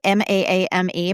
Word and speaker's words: Maame: ago now was called Maame m a a m e but you pronounce it Maame by Jessica George.